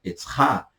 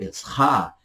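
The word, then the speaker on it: עזרא: Nós temos Etzra. Esdras, português, Esdras, hebraico, Etzra. Etzra.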